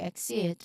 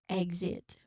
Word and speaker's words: exit: It's usually G and Z. Okay? It's usually pronounced as like that. So exit. Not it's also correct exit, but if we try to properly pronounce this particular consonant cluster, it is exit.